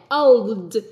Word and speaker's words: old: old old old old nhớ này old là phải l hoặc Ồ nhẹ trước khi d chứ mình đừng đọc là Âu Ok nếu mà đọc là Âu là mình gì mình nuốt âm của cô Viet nhá